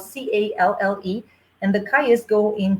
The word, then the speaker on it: calle: And then we also have calles, which is spelled Calle, and the calles go in twos.